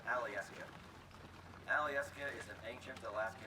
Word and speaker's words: Alyeska: of questions out here that word is actually pronounced Alyeska Alyeska is an ancient Alaska native Indian word